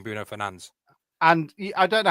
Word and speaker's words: Fernandes: his name is Bruno Fernandes. Fernandes? Yeah, that's how he says his name is. It's not Fernandez.